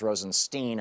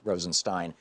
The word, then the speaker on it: Rosenstein: Rosenstein and who is whose name is always pronounced Rosenstein on the fox news network in right-wing hate radio but it's Rosenstein I think they're trying to make it sound